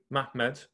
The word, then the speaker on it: Muhammad: In that period, a certain one of them, a man of the sons of Ishmael named Muhammad, or actually I should say it correctly, Mahmed, became prominent.